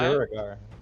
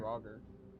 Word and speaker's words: Draugr: I thought it was It's pronounced Draugr. Draugr. No, Duragar are like dark dwarves. Yeah. That's what I was told. I asked earlier. Someone said No, I Dura- said Draugr. Ah.